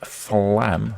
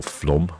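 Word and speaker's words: Flåm: Hogund Norway als Norway flam in Norway or flom I think it might be pronounced and then Bergen in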